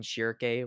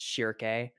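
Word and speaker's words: Schierke: I was pronouncing Shirke wrong the entire time before. I was calling her Shirk. Shirk. But it's pronounced Shirke.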